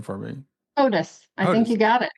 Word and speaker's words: Hodous: So, uh, can you pronounce your last name for me? Otis.